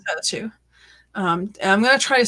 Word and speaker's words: Tailtiu: But it's pronounced like Talchu or Chalchu.